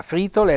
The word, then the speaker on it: fritole: soffiò la scommessa e fritole fritole quindi un bel accento sulla i quindi la fritole la frittella la per